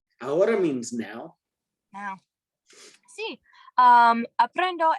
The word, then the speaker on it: ahora: ¿Qué significa ahora? Ahora means now. Now. Sí. Aprendo español ahora. Ahora. The H is silent.